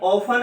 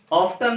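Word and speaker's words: often: ऑफन कहां लगेगा, ये ऑफन है इसका प्रोनाउंसिएशन, ऑफ्टन नहीं है, मेन वर्ब से पहले लगेगा।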